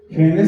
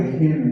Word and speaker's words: Henle: Henle se escribe con H, Henle.